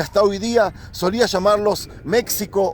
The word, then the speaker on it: México: hoy día solía llamarlos méxico o mexicanos sin saber que la equis esos la pronuncian como jota esto me lo acaba